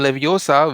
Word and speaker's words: Leviosa: pronounce the spell Wingardium Leviosa which actually makes objects float and it's she tells it's levosa not levosa so the emphasis is on o and not s so though the spell